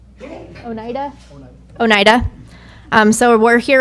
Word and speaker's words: Oneida: Oneida.